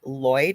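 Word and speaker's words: Lwyd: And so it says Welsh in quotations grey, but it's actually Mary M a R Y Lloyd.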